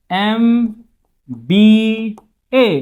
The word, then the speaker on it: MBA: MBA का जो pronunciation होगा, देखिए MBA, तो ये क्या है? तो ये है वॉवल का sound, before vowel sound we use article an, in option number B.